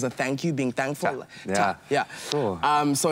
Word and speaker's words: Ta: But about my work, the title of my work is Da, or Ta. It's spelled T-A.